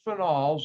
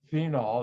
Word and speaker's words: phenol: number two and this chapter talks about alcohols phenols i know some of you call that phenol it's really pronounced phenol even though i've had arguments with